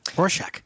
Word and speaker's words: Rorschach: Toronto Ontario yes and now I figured out how to say it Ro shock good job and I'm